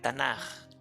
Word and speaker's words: Tanaj: mayúscula y una jota esa j se cambia originalmente por una k pero se escribe o se pronuncia de esta manera tanaj dando a entender que